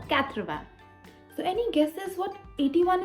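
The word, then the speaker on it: quatre-vingts: is 80 80 is not swasanthman no it is katravan yes counting from 1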